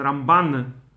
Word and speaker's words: Ramban: So that's why they say Rambam when they talk about Maimonides, and Ramban on stress on the last syllable when they talk about Nachmanides, Rabbi Moshe ben Nachman.